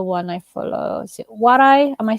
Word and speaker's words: Waray: Is it Waray? Am I saying it right? Waray, Waray.